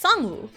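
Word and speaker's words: Sang Woo: know, because you know, S A N G and then Woo, w O. That's how it's romanized, but it's S woo.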